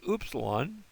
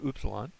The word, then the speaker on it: upsilon: So that's the upsilon. And the sound it makes is like duty, the oo sound, upsilon.